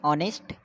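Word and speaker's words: honest: तो मैंने बोला जैसे ऑनेस्ट यूज़ करते हैं, ऑनेस्ट एच साइलेंट होता है तो इसे कैसे लिखते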